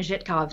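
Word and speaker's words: Żytkow: us about the Thorn Zeitkow. So I had to email Anna Zhitkov to make sure that I was pronouncing it right. Okay. So it's Thorn Zhitkov object.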